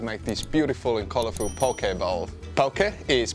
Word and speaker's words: poke: to hawaii to make this beautiful and colorful poke ball poke is pronounced po k which means to cut crosswise